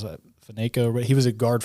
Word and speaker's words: Faneca: Actually, one thing that's pretty cool is Alan, I can't remember, pronounces that, Faneca, but he was a guard for the Steelers for a long time. He's Faneca. Faneca, yeah.